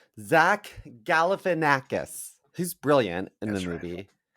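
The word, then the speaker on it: Galifianakis: getting closer gaus yeah there is an l sound in there a little earlier Gaffin lakis gaff how do you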